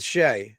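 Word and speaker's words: Skjei: Brady Shea, you can't spell giveaway without, giveaway rhymes with Shea.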